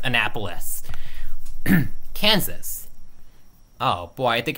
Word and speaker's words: Annapolis: call this capital wait Maryland okay maybe maybe Anna police nah just kidding it's pronounced Annapolis Kansas oh boy I think it's hot in